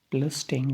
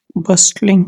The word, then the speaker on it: bustling: Bustling mean let's just Bustling. Bustling. bustling. The T is silent, we call it bustling.